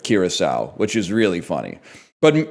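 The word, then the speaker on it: Curaçao: But then he did say Caraco instead of Kiraasau, which is really funny.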